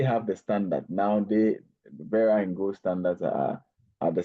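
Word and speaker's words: Verra: So, the pronunciation will be Vera actually.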